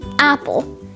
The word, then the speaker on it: apple: Like, for example, the word apple. The E at the end is silent, meaning it is pronounced just like A-P-P-L, apple, as if the E wasn't even there.